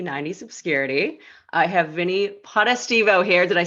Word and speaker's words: Potestivo: welcome back to 90s obscurity i have vinnie potta stevo here did i say it right you nailed